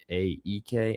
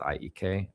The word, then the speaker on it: AEK: IAK Athens, better way to say it, but I feel like they pronounce it IEK.